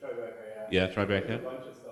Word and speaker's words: Tribeca: It's Tribeca, yeah.